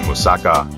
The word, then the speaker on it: moussaka: fantastic flavors meld when musaka the stress is on the last syllable is baked to perfection